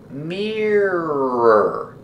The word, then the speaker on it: mirror: on the sliding door pronunciation mirror the first vowel is ear like ear together Mirror Mirror we use ER like